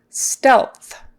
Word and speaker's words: stealth: feedback on the process stealth stealth um so that e stealth stealth you've got an e that would be a short e a short e sound is in red stealth you got an